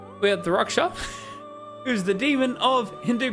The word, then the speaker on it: Rakshasa: It's not Rakshasa because it's wrong. It's Raksha. That is the correct pronunciation. It is Raksha. The SA is not pronounced.